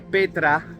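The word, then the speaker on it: πέτρα: Aquí roca, en griego, en la concordancia Strong griega, que es la palabra número 4073, que se pronuncia Petra y significa gran masa de roca, ¿vale?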